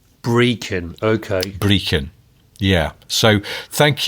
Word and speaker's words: Brechin: Well, I think I pronounced it Brechin, sort of sounding like Brecon in South Wales. It's Brechin. Brechin, okay.